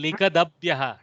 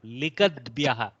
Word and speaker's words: लिखद्भ्यः: Someone else was saying likadabhyah. Don't do that breakup. Likadbyah, one compound akshara.